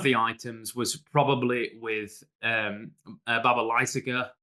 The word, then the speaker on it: Baba Lysaga: And whenever I thought this time, I'm not going to stress any of the syllables. Baba Lysaga.